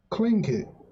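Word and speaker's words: Tlingit: time I'm seeing it how you pronounce this clink it CL clink kit wow that's an interesting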